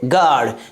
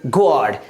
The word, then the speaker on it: guard: GUARD, क्या पढ़ेंगे गार्ड ना कि गॉड।